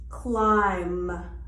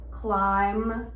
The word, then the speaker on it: climb: same syllable for example climb or doubt so that as you can see the b is silent climb and doubt h is